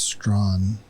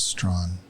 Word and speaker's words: Strachan: Yeah, well, the chat overwhelmingly says it's Strawn. So until I hear otherwise, that's how I'll be pronouncing the name. Because when we had the World Women's Competition, they pronounced it as Strawn.